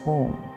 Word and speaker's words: Om: It has 3 syllables in it: A, U, M. Together it becomes Om.